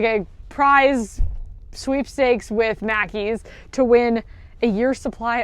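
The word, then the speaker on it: Mackie's: favorite favorite Scottish brands, Mackey's. I don't just love it because it rhymes with Jackie, but that is a big part of it.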